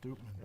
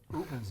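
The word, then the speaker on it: Upmann: But it's pronounced Doopman. I know. Like San Andreas isn't pronounced San Andreas. Well, it's also not spelled that It's way. not spelled that way. Well, Oopman's not spelled Oopman either.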